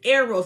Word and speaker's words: Eros: Eros, E-R-O-S, Eros, it's pronounced Eros, and it's a Greek word, and the word Eros means sexual or romantic love.